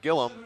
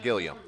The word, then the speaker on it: Gilliam: It's pronounced like Gillum, not Gilliam.